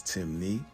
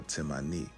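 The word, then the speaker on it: Temne: Despite the various spelling variations, Timnney only has two ways of pronouncing it, which is Timi or Timmani.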